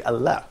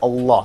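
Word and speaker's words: الله: For example, when you say Allah, so we don't say Allah. Yeah. Can you see that? So we say Allah.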